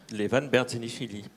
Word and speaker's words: Levan Berdzenichvili: cet après-midi, eh bien, je vais te laisser prononcer le nom de Levan, parce Levan que je ne veux pas le lui abîmer. Levan Berzenishvili.